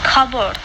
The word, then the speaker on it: cupboard: like flats and balls the p is silent the correct way to say is cardboard cupboard epitome harry potter fans